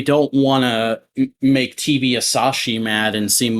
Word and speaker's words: Asahi: I've always just assumed it's Asashi, Yeah, but maybe the whatever.